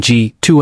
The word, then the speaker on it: g-2: The muon G2 anomaly. The muon G2, pronounced G-2, experiment is another area where CERN has made significant strides.